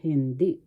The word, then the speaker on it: hindi: or not in English hindi first syllable h second syllable d the accent is in the second syllable hindi no or not ba that means what?